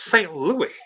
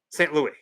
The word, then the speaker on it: St. Louis: Well, that's because you're saying it wrong. It's St. Louis. Down on the farm, down on the water, St. Louis.